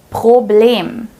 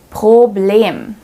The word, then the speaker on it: Problem: Problem. Problem. Since the R is placed right before a vowel here, we pronounce it as the real German R.